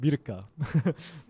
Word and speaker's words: Mirka: In Korean, it's pronounced Mirka.